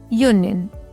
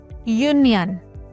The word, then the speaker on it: union: Article is used before any word which begins with a vowel but is pronounced with a consonant sound. For example, union.